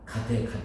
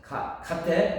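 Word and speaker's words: गते: 파라 가테, 이게 아재인데, 아재는 그게, 주문이 안 돼요. 그게 주문이 되려면 발음이 정확해야 돼요. 근데 중국은 그대로 되어 있어요. 가테로 되는데, 우리는 한역으로 되면서 아재로 발음돼요.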